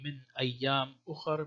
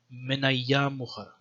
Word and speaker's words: مِنْ أَيَّامٍ أُخَرَ: And also, it seems like there was no hamza, so you wouldn't say min ayyam ukhar, but more like connected. Pronounce it more flowingly, min ayyam ukhar.